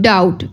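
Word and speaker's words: doubt: बोल रहे ठीक है अब डाउट डाउट में हम लोग बी साइलेंट है बी हम लोग प्रोनाउंस नहीं कर रहे डी ओ यू बी टी डाउट डाउट में क्या साइलेंट है बी बी हम लोग प्रोनाउंस नहीं करेंगे सीजर सीजर्स में सी साइलेंट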